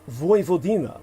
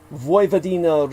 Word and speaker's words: Vojvodina: maps as northern Serbia's Vojvodina region, spelled V-O-J, which is pronounced as a Y in Slavic languages, V-O-D-I-N-A.